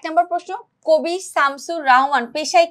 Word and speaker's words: রাহমান: আচ্ছা, তোমাকে পাওয়ার জন্য হে স্বাধীনতা এই কবিতাটি লিখেছেন শামসুর রাহমান। দেখো আমাদের যেই প্রচলিত কথাগুলো আছে আমরা কি বলি? রহমান বলি, তাই না? রহমান, বাট তার নামের বানানটা হচ্ছে রাহমান। এটা আমরা যেন কখনো না ভুলবো, ঠিক আছে?